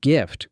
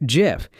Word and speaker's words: GIF: How do you say it? Hard G, like gift, or soft G, like the peanut butter?